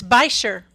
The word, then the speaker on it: Butcher: there you go yeah no it's by sure by sure okay there we go sorry about that it's german we've been gosh friends